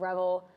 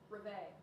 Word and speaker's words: Reveille: Not all classes, just that one class, but Okay, pronunciation check, Reveille. I told you it was wrong. I said it. I like how Rebel sounds. Clock that. All right, Reveille.